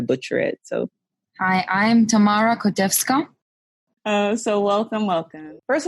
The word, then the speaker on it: Tamara Kotevska: this because i'm being a punk and not pronouncing your names well i don't want to butcher it so hi i'm tamara kodevska oh so welcome welcome first of all tell